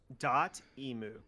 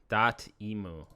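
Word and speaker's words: Dotemu: this now oh okay it's good someone does dot emu dot emu wow you know i've heard that before too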